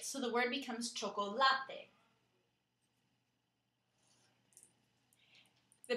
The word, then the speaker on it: chocolate: chocolate in English but in Spanish we emphasize that last part of it so the word becomes chocolate the pronunciation is more